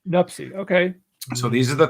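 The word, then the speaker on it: Nuptse: right is it uh lotz l-h-o-t-s-e the e is silent i believe lots and the other one is uh named nupsi n-u-p-t-s-e nupsi nupsi okay so these are the three peaks in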